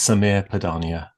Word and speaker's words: Sameer Padania: And by the end of the conversation, I promise I'll have learned how to pronounce it. Well, that's quite all right, Rob Watson. It's Samir Padania.